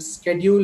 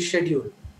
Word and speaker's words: schedule: comes to the pronounce for example schedule and schedule most of us think one is right whatever we have learned schedule or schedule we think that that is right but actually both are right one is American one is a British so many teachers have